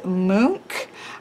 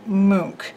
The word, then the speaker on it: Munch: not be correct but from what my understanding is that it sounds like edward mook i do not speak